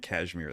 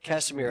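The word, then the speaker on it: Casimir: I got here keep saying Kashmir. That's what I'm with you. Cashmeir. Casemir. You're right. Casemir, I've been saying it wrong.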